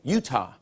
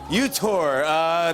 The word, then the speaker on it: Utah: For our final clip, Trump tries to say Utah. How do you think he'll mispronounce Utah? Utah. Utah. All right, let's see what happened. You cherish Utah's gleaming rivers and sweeping valleys. Yeah, you're very close. UTOR.